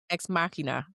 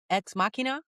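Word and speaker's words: Ex Machina: Exmarketina. Exmachina. I call her exmachina. Yeah, that's how it's spelled.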